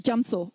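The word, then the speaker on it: རྒྱ་མཚོ: Gyamso is actually spelled gya and so. But we pronounce it gyamso or gyamso.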